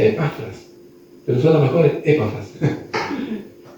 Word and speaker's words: Epafras: Y gracias a Dios que permitió que Epafras, dicen que el nombre se pronuncia Epafras, pero son las mejores épafas.